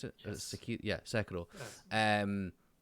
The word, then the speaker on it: Sekiro: Is that how you pronounce it? Yes. Yeah, Sekiro.